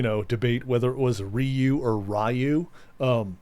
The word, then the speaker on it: Ryu: I feel like uh for English speakers, one of the hardest um uh syllables to say in Japanese is Ryu R Yu.